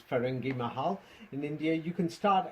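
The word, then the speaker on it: Firangi Mahal: Ferengi Mahal, you pronounced it, but it's Ferengi Mahal.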